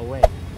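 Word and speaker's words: Huế: Medyo mahirap siang i-pronounce kasi pag binasa mo siya dapat way 'di ba? Pero dito sa kanila pag sinabi mong way hindi nila maiintindihan kasi ang tamang pronunciation sa kanila uw ganun lang siya talaga uwi.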